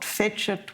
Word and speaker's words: Fecit: And so, there's a little poem in here called Fecit, which is one of the environmental poems. And, that's the Church Latin pronunciation.